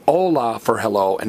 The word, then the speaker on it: hola: The only silent letter in Spanish is H, which is why we say hola for hello and not hola.